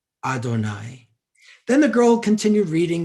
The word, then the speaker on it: Adonai: lines side by side you have to pronounce it as adonai adonai of course is the